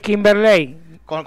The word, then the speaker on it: Kimberley: Es Kimberley. Con el acento en la E.